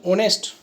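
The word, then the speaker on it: honest: ऑनेस्ट दोस्तों देखो, last वाला उदाहरण देख पा रहे हो, यहाँ पे एच से शुरू हो रहा है, लेकिन ये बोलने में इसका उच्चारण ऑनेस्ट होता है, ओ से शुरू होता है, इसलिए यहाँ पे एन का प्रयोग हुआ है।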